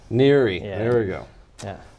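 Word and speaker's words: NHERI: research infrastructure which is what how do you pronounce that Neri Neri yeah there we go yeah it's all about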